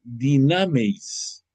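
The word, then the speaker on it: δυνάμεις: La palabra portento viene del griego, pero sobre todo hay una acción que tiene un nombre griego que se llama, que se pronuncia dinameis.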